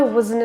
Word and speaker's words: wasn't: T in wasn't is not pronounced. So just if I wasn't an actor, nice drop jaw on a, actor.